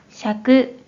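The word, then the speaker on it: 尺: 사용하는 경우에는 발음이 없고 음으로는 샤크 샤크라고 발음해요 그럼 먼저 대표적인 어휘를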